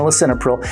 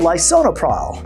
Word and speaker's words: lisinopril: So let's say they're like spelling out a medication, well, Doug, I take this one, L-I-S-I-N they're taking lisinopril, and then you pronounce it wrong. Oh, lisinopril.